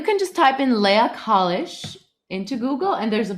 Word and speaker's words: Kalisch: which is called leah college and yeah same on facebook instagram my name so you pronounce it college now my understanding is